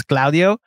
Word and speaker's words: Claudio: But I think that the Hispanic pronunciation of my name is Claudio. So, like, I'm used to it. Like, I've been being called Claudio by every Titi and Theo in my life for the majority of my life. So it's not like it's an incorrect pronunciation.